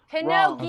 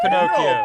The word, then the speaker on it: Pinocchio: Pinocchio. No, she said it wrong. She said it wrong. Buzz her. Pinocchio. It is Pinocchio.